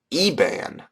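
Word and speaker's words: Iban: Ian you know whatever but it's pronounced eban H I don't know it just it hasn't it's spelled IB so I don't really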